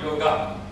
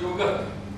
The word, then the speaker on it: yoga: And first thing they said, they pronounce it in a wrong way. They either call it yoga. You know, there's a tendency amongst English people to add name to everything. Rama, Krishna, yoga. That's wrong pronunciation. So I mean, the very beginning they've gone wrong. What is yoga? That's the correct.